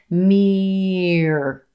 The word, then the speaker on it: mirror: Our stressed vowel in this syllable has two parts. Mirror, mirror. And then same thing as the end of terror. We hold that and do an unstressed, quick sound.